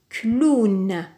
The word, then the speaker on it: clown: un W dans ce toute cette combinaison de lettres se prononce ou par exemple dans le mot clown clown alors lisons ensemble